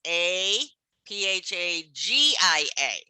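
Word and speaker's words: aphagia: in medical terminology okay aphasia is pronounced the same way as a phage okay you see there's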